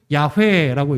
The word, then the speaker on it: 야훼: 전통을 따라서 이해한 것이고, 그러니까 여호와, the Lord, 아도나이, 혹은 언어학자들은 그것을 야훼라고 읽습니다. 야훼. 그러니까 다 똑같은 요드해 바브에 우리가 여호와라고 읽는 단어를 어떻게 읽느냐, 읽는 법이 다른 거죠.